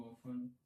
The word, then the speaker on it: often: दूर, ठीक है, हाउ ऑफन, ठीक है, हाउ OFTEN, हाउ ऑफन, एक टी साइलेंट है इसमें, मतलब कितनी बार, और